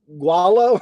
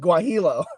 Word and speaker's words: guajillo: Would you call it gualo? I think it's pronounced guajillo.